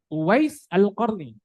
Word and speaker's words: Uwais al-Qarni: The name is Uwais al-Qarni.